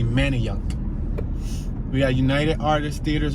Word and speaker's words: Manayunk: main street manny yuck it's spelled man of younk but i've heard people say manny young like they say the a is like a why like many but it's really manny young we got united artists